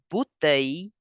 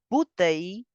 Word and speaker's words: bouteille: French pronunciation rule that whenever the two L are between I and E, we change the sound of 2L to Y. So you will say water bottle in French as la bouteille d'eau.